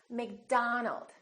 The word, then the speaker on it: McDonald: It's not McDonald, it's McDonald.